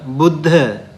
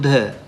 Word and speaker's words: Buddha: b bu b buddha p and b there's a difference. How do you say wisdom in Pali? Pa, right? Pa. Okay, that is P sound, right? How to say the enlightened one? Buddha. Buddha, right? So you do you see the difference?